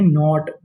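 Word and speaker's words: knot: के एन ओ टी। इस meaning को हम लोग पढ़ते हैं नॉट। क्या पढ़ते हैं? नॉट यहां पे के हमारा साइलेंट रहता है।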